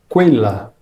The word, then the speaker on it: quella: Em italiano, o grupo de letras Q, U, E tem o som de que. Então, essa palavra aqui se pronuncia quella.